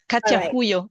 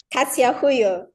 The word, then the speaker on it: Katya Huyo: Just just say Katya. Katya Huyo. It's Huyo. Katya Huyo.